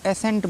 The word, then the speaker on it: ascent: इसको जो है बच्चे बहुत ही कन्फ्यूजन के साथ पढ़ते हैं, जबकि इसका C साइलेंट है, सीधे इसको एसेंट बोलना है, एसेंट, ठीक है।